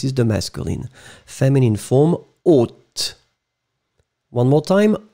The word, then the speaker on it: haute: Remember, H is not pronounced, so o, and final T either. O, this is the masculine. Feminine form, haute.